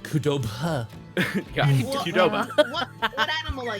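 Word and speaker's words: Cudobh: my character uh is Kudo uh not spelled any way that you think it's going to be spelled but uh is how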